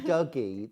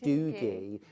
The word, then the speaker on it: Doogie: So rather than Douggee they pronounce it Doogie.